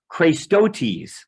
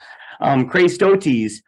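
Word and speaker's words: χρηστότης: It's pronounced Christotes. Aren't you glad we don't speak Greek? Christotes.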